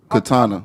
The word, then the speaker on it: Kanta: And how you pronounce her name is? Katana. Then try to figure out how to pronounce her name. Katana. That's it.